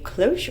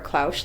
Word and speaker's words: cloche: way this is a cloche or a clausch light I've heard it pronounced both ways it is a French word and it means a